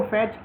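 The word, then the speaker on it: fiche: The word फैच is pronounce as फिश। जो फैच word है उसे एज अ फिश प्रोनाउंस किया जाता है। इट इज a French word विच means card यह एक फ्रेंच वर्ड है जिसका मतलब कार्ड होता है।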